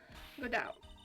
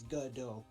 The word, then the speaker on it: Godot: Yeah, pretend it's Godot. Godot. Pretend it's spelled G-U-D-O-H. Godot. Godot.